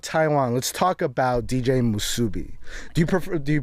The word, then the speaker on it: Musubi: so Okay, the the correct way is Musubi.